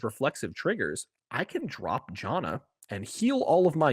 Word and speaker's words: Janna: It's Jana. I thought it was Yana. Yana, no, Jana.